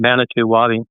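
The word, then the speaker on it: Manitou Wabi: Manitu Wabi.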